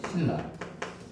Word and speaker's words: 신라: 그래서 그 예로도 들었던 것이 신라. 비음하고 그중에 니은 리을이 맞나? 그래서 얘를 발음하고 얘를 발음해야 되는데 리을이 성격이 더 강하기 때문에 리은이 리을에 맞춰 주는 거다.